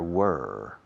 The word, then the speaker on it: were: There were several problems yesterday. Pronunciación. There were. Rima con quemar. Burn. Were.